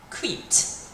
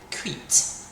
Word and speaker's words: cuite: Okay, well actually, because a baguette is feminine, we're going to have to pronounce it slightly differently because the E is going to have to come on the end now. So we're going to say plus cuite.